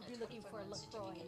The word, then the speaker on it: LaCroix: no, everybody's going to be looking for a LaCroix and not deposit at finance factors and earn 1.8% annual percentage yield for a deposit of $25,000. You have to say it with the crazy accent, but LaCroix.